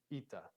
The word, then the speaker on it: eta: So this is a long E sound. E, eta. All right.